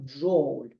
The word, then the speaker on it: джоуль: на честь Джеймса Джоуля позначається двома літерами д і ж і або але читається саме як джоль 1 Дж за формулою